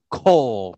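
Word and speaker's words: כל: here cow i mean you think it's pronounced cow but it's pronounced coal because again the comets get shortened to an o sound so uh you have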